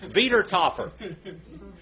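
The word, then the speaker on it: Wiedertäufer: What did he say? Va. Va. Wiedertaufer. All right? It's all V's.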